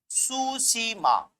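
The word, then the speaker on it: Tsushima: ये यहां जाने के बाद एक हिस्सा ऐसे मुड़ जाता है, का नाम है सुशीमा। सुशीमा ये जापानी नाम है, इसकी स्पेलिंग टी से शुरू होती है, कैपिटल टी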